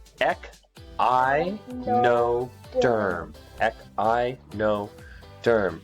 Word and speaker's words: Echinoderm: you pronounce this them it's ech I know derm I know derm right